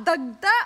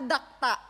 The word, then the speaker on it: dagta: tama magtatanong tayo ngayon obri ano yung tama dagta or dakta dagta oh dagta dagta dagta dagta o one point one point na saakin one point k Precious Anong tama dagta o dakta dagta dagta Two points kay war Ellie